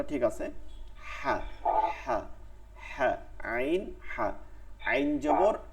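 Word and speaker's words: ع: আচ্ছা পরের, এরপরে হচ্ছে হলকের মধ্যখান থেকে, হলকের মধ্যখান, মধ্যখান মানে হচ্ছে এই মাঝখানটা থেকে, গলার মাঝখান, কণ্ঠনালী মাঝখান থেকে উচ্চারিত হয়। আইন হ্যাঁ, আইন হ্যাঁ, ঠিক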